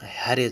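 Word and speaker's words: ح: হাকে গলার মধ্যে একটু চাপ দিয়ে উচ্চারণ করতে হবে এবং 1 সেকেন্ড টেনে পড়তে হবে। হা হা হা হা। আসলে এই হরফের উচ্চারণও তেমন বাংলায় আসে না, তবু একটু দেখাই দিচ্ছি বোঝার জন্য।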